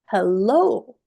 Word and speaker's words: hello: These words are stressed on the second syllable. So the sound is Hello. Obey before today.